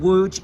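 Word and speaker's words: Łódź: I've come down to see a city called wo it's spelled l o d z and woj is the third biggest city in Poland now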